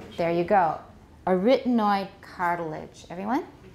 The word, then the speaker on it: arytenoid: in many inc and what i've heard is a retinoid a retinoid that sounds i've never ever heard that before um what kind of